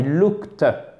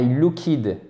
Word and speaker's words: looked: avez votre verbe au passé donc ça se prononce I looked OK et c'est pas a lookid ça ne marche pas donc c'est ici le